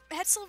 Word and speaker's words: Hetzel: Hetzel rhymes with pretzel. I'm sorry, I just had to point that up. It's like one letter off from... Okay, two letters off from pretzel, man.